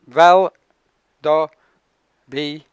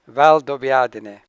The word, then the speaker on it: Valdobbiadene: Valdobbiadene. Valdobbiadene. And the other unpronounceable is Conegliano.